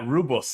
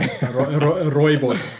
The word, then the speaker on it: Rooibos: Rooibos. I think it's spelled wrong there. Rooibos.